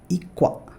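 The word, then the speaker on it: 이과: It's very easy to pronounce it like igwa, right? It's pretty simple. But if you hear native Koreans, you will see that they pronounce it like ikwa. They will not say igwa, they will say ikwa.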